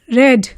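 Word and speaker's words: read: speak spoke spoken रीड रेड रेड अब यहां पे स्पेलिंग्स तीनों की सेम है लेकिन इनको हम v2 और v3 फॉर्म में कैसे प्रोनाउंस करेंगे रेड और v1 में कैसे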